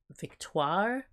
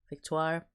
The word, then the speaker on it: Victoire: the Duchess of Kent whose name is also Victoria although I think she pronounced it victoire victoire who is the mother